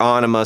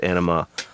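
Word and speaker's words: Ænima: And of course, if you go through the Enema album, or Onima, some people call it, but I've heard him actually pronounce it Enema live on stage. So I think I'm correct. Everybody tries to correct me on that, but I think I'm actually correct on that, because, like I said,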